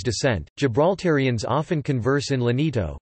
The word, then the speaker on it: Llanito: Gibraltarians often converse in Lenito, pronounced Anito, a vernacular unique to Gibraltar.